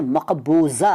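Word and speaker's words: مقبوضہ: with तो नहीं कहते जी चीज पर कब्ज किया गया है उसको हम कहते हैं की ये मकबूजा है मकबूल डाटा नहीं कहते जब कोई संगीत की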